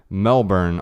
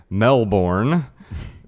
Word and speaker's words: Melbourne: what I would say Melbourne Australia some people might say Mel Bourne that's something pronounce my name sometimes but I know in Australia it's Melbourne Melbourne Australia although in